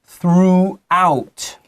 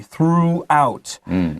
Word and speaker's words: throughout: word can be tricky throughout throughout throughout the country always be careful of o-u-g-h its pronunciation can be tricky throughout number three uh Branch